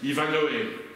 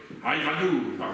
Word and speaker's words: Ivanhoe: Ivanhoe, Ivanou, il paraît qu'on prononce comme ça.